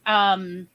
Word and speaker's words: chutzpah: Chutzpah. Rhymes with tutzpah.